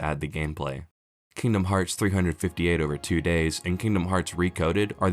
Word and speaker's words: 358/2 Days: wants you to forget Kingdom Hearts 358 over 2 days and yes that is apparently how you're supposed to pronounce it was originally released